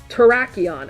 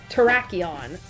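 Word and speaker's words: Terrakion: Terraon. Okay, I was right somewhat. Traion and that's the same in Japanese.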